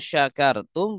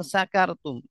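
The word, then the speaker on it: شكرتم: Harusnya la ing syakartum, bacanya la ing sakartum.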